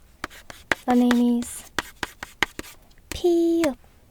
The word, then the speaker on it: 피읖: nét Đúng 1, 2, 3, 4 Đúng, ㅍ phát âm [p] và tên là 피읖 được rồi, cuối cùng là 히읗